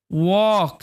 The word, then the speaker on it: walk: তো এখানে আই ওয়াক, এখানে এল সাইলেন্ট, ঠিক আছে, WALK, ওয়াক, আই ওয়াক, আমি হাঁটাহাঁটি করি কিছুক্ষণ।